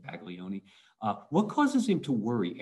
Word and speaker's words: Baglioni: All right, what causes Baglioni? I say Baglioni. The Italian pronunciation is not Baglioni, but I don't speak Italian, so we're going to stay with Baglioni.